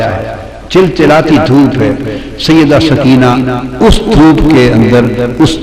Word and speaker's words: سکینہ: جگر شہزادی سیدہ سکینہ، اصل نام ان کا عربی وزن میں سکینہ ہے، عرف عام میں سکینہ چلتا ہے، اصل لفظ سکینہ۔ سیدہ میں عرف عام کا لفظ استعمال کروں گا، تلفظ بتا دوں، سکینہ، سیدہ سکینہ، سیدہ سکینہ۔ دھوپ میں چھوٹی معصوم